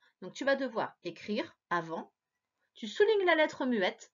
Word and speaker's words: avant: Avant s'écrit A-V-A-N-T. J'ai souligné le T qui était la lettre muette, ainsi que le en qui s'écrit A-N.